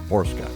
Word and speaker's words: Borcsa: Borsca. Did I get it right? It's pronounced It's spelled Borks. It's It's spelled differently, but it's pronounced Borsca.